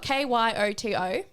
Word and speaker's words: Kyoto: is how it's spelled k-y-o-t-o oh koyoto like Toyota Kyoto Filipino that sounds better